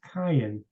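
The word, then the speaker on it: קין: name is not spelled Kane it's spelled it's pronounced Cayenne in the Hebrew uh which means something completely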